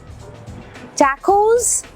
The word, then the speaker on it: tacos: टैकोस, टाकोस दोनों चलेगा, मगर यार कॉन्फिडेंटली बोला करो।